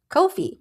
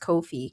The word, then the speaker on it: Ko-fi: Or, you know, I think it's pronounced kofi, right? It rhymes, I think they said, with no fee.